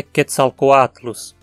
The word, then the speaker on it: Quetzalcoatlus: óculos seu é longo a única pronúncia é possível é quetzalcoatlus nós também aqui que